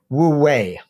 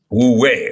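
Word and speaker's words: wu wei: But it's generally pronounced something like woo-wei. Wu-wei, okay. So we can think of those people disparaging spirituality as woo-woo and take that woo, but then woo-wei, like as if it's the way.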